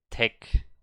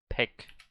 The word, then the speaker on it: 백: In the first syllable of department store, I put tech hwajom, but it's pek.